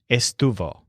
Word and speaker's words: estuvo: she or it was again both words have Stu as the stressed syllable but Joel sounds more like Stu face and the lizard sounds more like Stu foot these words can be